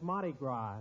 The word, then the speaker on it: Mardi Gras: shame he couldn't have been here for the Mardi Gras Jimmy that's Mardi Gras the S is pronounced ah as in Patty de foie gras